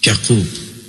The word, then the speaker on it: Yaqub: He was introduced to us as Prince Yaqub, pronounced Yaqub, as in Hebrew.